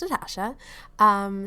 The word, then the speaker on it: Natasja: Hey guys, it's Natasha, pronounced Natasha.